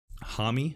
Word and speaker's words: Hami: And this was Hami. I'm going to say Hami because I watched the video. Hami Express, not Hammy.